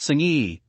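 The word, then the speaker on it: Senge: on learning organizations especially peter m senj pronounced singi is a resounding yes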